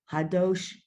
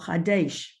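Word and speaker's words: חדש: Avinu Malkeinu Hadosh Olenu Shana Tova. Wait, what is this word here? Hadosh, Hadash, Try one more time. Hadosh. The two dots is A, Oh, Hadesh.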